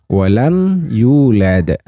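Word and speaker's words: ولم يولد: Walam yulad. Nah, mim sukun bertemu dengan ya, maka disebut dengan idhar syafawi. Jadi mim sukunnya dibaca jelas, tidak boleh didengungkan, tidak boleh dipanjangkan.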